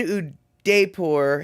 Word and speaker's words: Udaipur: You're in Udaipur, headed to Bundi.